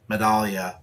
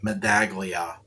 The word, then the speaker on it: Medaglia: And it is pronounced Medaglia, not Medaglia.